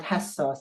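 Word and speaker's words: حسّاس: hook or hanger, and hassas, which means sensitive, sensible. See that? In fact, what we do here, we are pronouncing twice D, twice L, and twice S. But we write just one of them.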